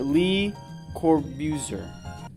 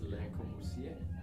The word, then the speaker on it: Le Corbusier: Or Lee Corbusier. I told you how to pronounce that. It's Le Corbusier. Corbusier. The French one.